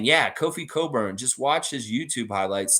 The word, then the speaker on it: Cockburn: able to to say cockburn with a straight face you know that it's coburn when you pronounce that last name it's not cockburn i have a friend